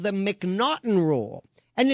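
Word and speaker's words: M'Naghten: In the United States, we have something called the McNaughton Rule. And it's spelled M''Nag.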